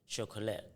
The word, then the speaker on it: Shockolate: So you've got Surrender, and then now, how do you then move from that to Shockolate?